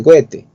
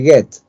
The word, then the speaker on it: Goethe: importantes, Johann Wolfgang von Goethe, aunque algunos prefieren llamarle Goethe, que parece que dijeras cohete, así que no es correcto, tienes que decirle Goethe.